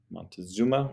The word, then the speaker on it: Montezuma: led by montezuma and we can see montezuma spell it a couple different ways in the book and in readings and such montezuma is how you say it he was the